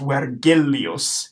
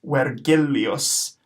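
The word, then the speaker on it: Vergilius: be wet Julius okay so the V at the beginning is going to be pronounced as a whoa when when our our is gonna be rolled and then our G's not going to be a just sound like in Virgil it's gonna be a gust out because Latin G's always go so this will be pronounced wet Gilly us where Gilly us okay now there's one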